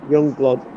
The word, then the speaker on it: Yungblud: It's spelled YUNGBLUD, Youngblood.